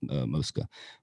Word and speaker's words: Mosca's: My whole life I have said Mosca's, and I've been 1,000 times and I've always called it Mosca's. But in my talks with Lisa Mosca, it's apparently Mosca. So hey, I'm gonna make sure we pronounce it right from now on. We're going with Mosca.